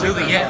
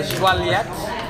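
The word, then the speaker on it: Joliette: We've We been don't walk pronouncing around. it completely wrong. They don't even know where I it said is. Juliet like 8 times. Yeah, Joliet.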